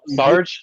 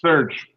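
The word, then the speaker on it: Serj: So what is it? Sarge? Serge. Yeah.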